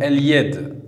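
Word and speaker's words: اليد: Et enfin, la dernière lettre lunaire, la lettre ya, comme dans le mot el-yed. El-yed, la main. Donc on va revérifier les trois règles. La lettre lem s'écrit et se prononce.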